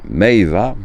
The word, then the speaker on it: meiwa: J'ai du mal à prononcer là. Meiva, voilà.